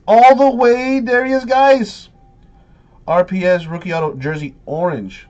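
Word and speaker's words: Guice: very nice mainly cuz his last name guys rhymes with nice therefore like he's so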